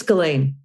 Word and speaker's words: Ghislaine: We started out with all these different pronunciations of Ghislaine Maxwell. I think it's Ghislaine.